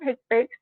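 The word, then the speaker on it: HCPCS: Coding also sorry this one, the Healthcare Common Procedure Coding System, HIPIC, often pronounced by its acronym HIPIC, it is a set of healthcare procedure codes based on the American Medical Association current procedure terminology.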